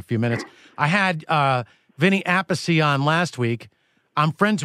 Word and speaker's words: Appice: I believe the way that Vinny pronounced it, Vinny Appice, is the way that his parents pronounced the name. And I believe that the way their third brother, Frank, I believe, pronounced it Appice, which is more the Italian dialect.